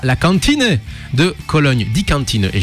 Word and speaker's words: Kantine: Le 23 mai ce sera au Columbia Theater de Berlin et ensuite à la Kantine de Cologne. Die Kantine, et j'y peux rien, ça se prononce comme ça, je dis voilà.